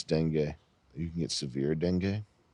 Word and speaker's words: dengue: How do you type in how to pronounce dengue? You can get severe dengue. It's like Bengay. Dengue for real. Dengue fever. Dengue fever. Oh, I was right. Dengue. He's calling it the Degu virus.